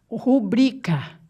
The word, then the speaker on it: rubrica: Rubrica. É rubrica, sílaba tônica é o bri.